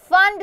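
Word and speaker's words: Pfund: इसको बोलते हैं फंड सीरीज। पर इसकी स्पेलिंग होती है पी एफ यू एन डी।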